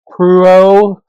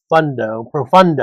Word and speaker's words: Profundo: This is the Reserva real Nicaragua Profundo. Profundo Profundo. You didn't roll your Rs.